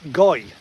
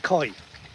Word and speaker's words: goi: And is it goi, not koi? Not with a K, with a G, but pronounced with a G and not pronounced with a K.